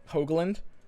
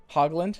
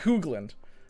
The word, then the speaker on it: Hoogland: did you guys know it's actually pronounced like hoagland hogland it's not hoogland i didn't know that